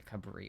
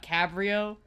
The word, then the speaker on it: Cabrio: It's a Cabrio.